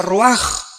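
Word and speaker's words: רוּחַ: Aquí se usa otra palabra hebrea, que se escribe ruach, con R de Raúl, A-C-H, se pronuncia ruach.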